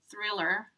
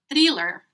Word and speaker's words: Thriller: was talking to her, she mentioned the song Thriller by Michael Jackson that was really famous in 1984. And I remember I pronounced it with an E sound instead of E. So I would say thriller instead of thriller.